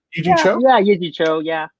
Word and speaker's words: Yee Jee Tso: Did I pronounce that right? It's Yee Jee Tso, right? Yee Jee Tso?